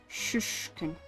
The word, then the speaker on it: Shishkin: Shushkin. It's almost like there's no I in there. Like shushkin.